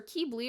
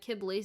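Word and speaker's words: Qibli: say to my head kibblies and that's who he is to me i think it's technically keebly though but if i say kibbly just know that's who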